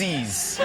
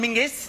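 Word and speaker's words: Menzies: me like I'm insane he's got that's men's menes John menes but apparently men go let's go to John mingis they don't do it what he do martinis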